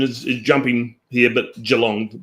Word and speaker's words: Geelong: I was going to say your pronunciation is is jumping here, but Jalong one e that spelled with two, but pronounce it with one.